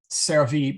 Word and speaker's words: servi: ceravi by the way this is a short e so don't say s um uh well i guess a long and a short e but anyway um yeah try and keep it short cervee servants servorum servants